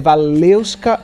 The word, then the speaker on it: Walewska: Olha, por que eu não falei o Valeusca? Gente, porque é difícil de pronunciar, mas eu aprendi. É Valeusca Oliveira. É tão difícil que é russo, né, gente?